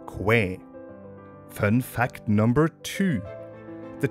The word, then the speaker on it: Kwai: fun fact number one the correct tire pronunciation of the river Quai is not qu but Quay fun fact number two